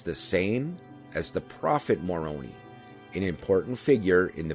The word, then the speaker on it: Moroni: Many years ago, I was talking to a Mormon friend, and he pronounced it Moroni.